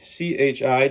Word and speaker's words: chi: It's like this, and then that is chi, C-H-I, chi, which also is representative of chi force. The energy, we build up our chi. You do qigong. Chi in qigong is sometimes spelled with a Q.